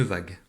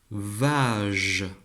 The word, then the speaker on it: vague: Allez, je supprime le U. Et voilà. Donc j'ai supprimé la lettre U, mais en revanche j'ai gardé la lettre G. Rappelle-toi, le G, on sait que ça peut chanter G. Voyons si ici on va garder le mot une vague. On le découvre ensemble. Une vage.